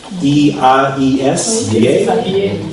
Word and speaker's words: biais: B-I-A-I-S. Ok, on prononce pas la S.